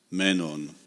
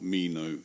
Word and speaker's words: Meno: in common with me about this here zenos Menon or Mino in Latin in English pronunciation anitus and Mino are kenoi in Athens